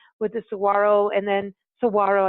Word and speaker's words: Saguaro: the Saguaro and then Saguaro I'm saying it correctly Lance now yes he did landscapes where